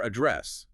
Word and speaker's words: address: Or address, the noun meaning location. Stress is on the second syllable, a dress. The first A becomes schwa, dress.